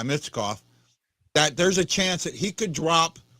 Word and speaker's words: Michkov: guy that just signed, and Makarkov or something like that. I can't pronounce it. You know how bad I am with names to begin with. Michkov? Yeah, Michkov.